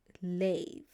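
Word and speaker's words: לב: And we're going to see how to pronounce this. Is lamed, l. And you've seen this vowel before. This is tsere. Makes an A sound. So l, A. So lay. And then vet. Makes a V sound.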